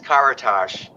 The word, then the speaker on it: Karatas: Well, it's hard to pronounce. It's Karatas.